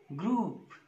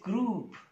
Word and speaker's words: group: Same is the case with the next word, group. It is group, not group.